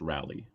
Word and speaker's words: Raleigh: by the way Johnny it's it's pronounced it's pronounced rally okay oh yeah that's